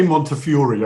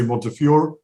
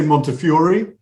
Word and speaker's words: Montefiore: pronounce it we say montefiore i know in america some people say montefiore we say montefiore and of course it's originally an italian name so that's that's where